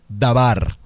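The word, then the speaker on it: דבר: al contexto de palabra palabra en hebreo es dabar dígalo conmigo escríbalos así como como se pronuncia palabra en hebreo es dabar y la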